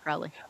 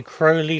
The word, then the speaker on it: Crowley: has always pronounced it Crowley. Oh, okay. Crowley like holy or moly. Not you're not calling him holy because you're a Thelemite. It No, no, no. sounds like holy.